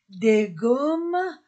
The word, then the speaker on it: gommes: une gomme féminin singulier des gommes féminin pluriel d d se pr pronce des Gomm on ne prononce pas le S une gomme des gommes